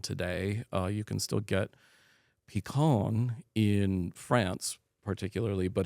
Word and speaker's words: Picon: The reason it's called a Picon Punch, and a lot of people will hear pecan and think of the nut. It's spelled differently. It's Picon, and that is kind of an interesting story in itself.